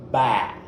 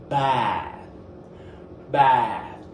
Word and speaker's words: bath: So it's bath. Bath. All right. The by the end of the word the tongue need to be outside. Bath. And you need to use all your mouth like pronouncing the word to the front of your mouth.